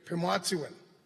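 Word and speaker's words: pimâtisiwin: The way of living, Pimwatsiwin, that's how we pronounce it in the Cree.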